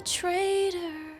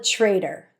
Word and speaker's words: traitor: Guess you didn't cheat, but you're still a traitor. Guess you didn't cheat, but you're still a traitor. Traitor. Trader. Flap T and a soft R.